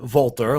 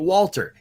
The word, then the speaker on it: Walter: When you have like Walter, some people like to pronounce it Volter, like, the German, and, or they'll say it Walter.